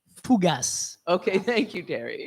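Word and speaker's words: fougasse: number one what type of food is a fagass let me let me pronounce it correctly fugas okay thank you terry it's got to be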